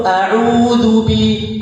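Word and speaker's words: أعوذ: itu masih sa salah cara bacanya yang benar adalah au audubi audu audu sama dengannya du Zu di mana Anya Zu Zu lidah bertemu dengan gigi seri atas tidak berpengaruh kepada Hi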